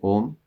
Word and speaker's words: Om: But if we say Om in the right way, which is not well, here a lot of tension is there, when we say and then coming by closing the mouth, then that is the correct way to say Om.